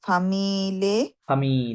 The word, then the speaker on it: familles: ঘ sportive, Sportifs, mais aussi pour des familles, ফামি, double E silent, familles, ফামি, only ফামি, familles avec অফ, enfants.